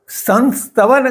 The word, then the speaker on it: संस्तवन: इस कारण संस्तवन किया गया उच्चार यह अशुद्ध उच्चारण है क्योंकि संस्कृत भाषा में इस उच्चारण का अस्तित्व नहीं है।